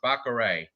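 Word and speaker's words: Batgerel: The L's not pronounced. Baccarat.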